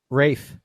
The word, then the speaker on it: Ralph: Well, it is Rafe and Ralph is the same guy. Rafe and Ralph is the same guy. Yeah, you're just saying it wrong when you say Ralph.